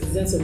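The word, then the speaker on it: Xenson: So that's Zenson with an X. For all of you who have been wondering how it's pronounced.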